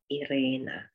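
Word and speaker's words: Ірина: it's in my name irena irena this is ukrainian e and the way you pronounce it is the way you would say e in chi so e c oh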